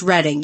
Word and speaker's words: Reading: it's reading it's pronounced reading yes it's spelled Reading PA but it's it's actually pronounced reading I know reading is